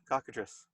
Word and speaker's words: cockatrice: I understand cockatrice decide hey pronounce that yeah that's yeah cockatrice yeah is there another way I don't know I always say cocoa trees characteris alright really I